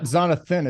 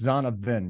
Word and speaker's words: Zonovan: It's not Zonathan, it's Zonovan. Yeah, Zonovan. Nice. You can call him Zonathan if you want to, but it's Zonovan.